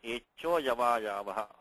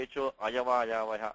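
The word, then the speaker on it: एचोऽयवायावः: So when you pronounce the sutram, you should say echo yava yavaha, echo. Don't say echo ayava yavaha, not like that.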